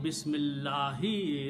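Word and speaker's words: بسم الله: Don't pronounce alif. Bismillahi.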